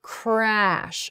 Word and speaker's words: crash: then finally crack CR crash then has an R sound followed by an a sound crash so it goes from